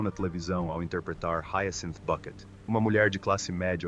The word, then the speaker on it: Bucket: televisão ao interpretar Hentin Bucket, uma mulher de classe média obsecada por estado social. No programa Keeping Up de 1990 a 1995, com sua insistência em pronunciar Bucket como bquet, Hay Cinta é mais do que apenas uma piada.